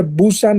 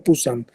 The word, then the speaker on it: Busan: Se pronuncia Busan o Pusan, con P. La P y la B son, para los orientales, para los coreanos, son exactamente lo mismo, ¿no?